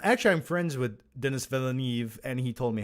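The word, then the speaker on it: Villeneuve: finale yes in my opinion he did it's pronounced velnuv um actually I'm friends with Dennis villeneve and he told me how to pronounce it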